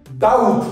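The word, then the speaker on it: doubt: হয় ডেট তারপরটা কি ডাউট ডি ও ইউ বি কি হয় ডাউট ডাউট ডাউট be silent সকলে একসাথে ডাউট ডাউট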